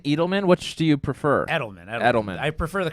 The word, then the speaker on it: Edelman: Edelman.